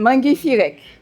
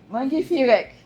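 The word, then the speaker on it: Maa ngi fi rekk: Comment ça se prononce, madame? Mangi Firek. Mangi Firek.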